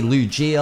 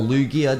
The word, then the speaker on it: Lugia: This is actually gonna be Lugia or Lugia, depending on how you want to pronounce it.